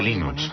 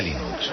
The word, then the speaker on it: Linux: Sin Internet, el desarrollo de Linux habría sido como querer jugar al ajedrez por correo.